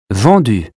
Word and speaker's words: vendu: Vendu. U or OU? U as in hue. Vendu.